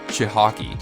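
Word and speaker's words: Cichocki: and former NHL ur Chris shitake yes that's the pronunciation was hired as the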